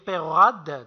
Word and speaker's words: Peyrehorade: monsieur perd au round ce que je prononcerai je vais dire peyrehorade donc mais ses pairs au